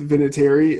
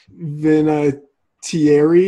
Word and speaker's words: Vinatieri: r e yeah but I'm pretty sure it's pronounced Vinatieri and not then a Thierry is that how you pronounce it again if